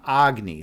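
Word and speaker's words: Agni: Agy, like like the king of the fire gods. empowered by Taki whose supreme wisdom burns all delusion except I pronounce my name Agy and he pronounces his name Agny.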